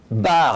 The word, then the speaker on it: Baert: quel plaisir de recevoir Eric Bard. Alors Eric, on va tout de suite, mettre les choses à plat. On dit bien Eric Bard. Ça s'écrit B-A-E-R-T, mais on dit Bard.